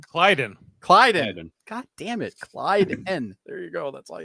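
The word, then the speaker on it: Klyden: And the guy's name who I can't pronounce. Kalen? Clyden. God damn it. Clyden.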